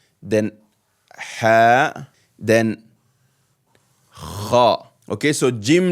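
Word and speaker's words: خاء: And kha, like you're clearing your throat. Kha. This is the next shape group. Jim, ha, kha.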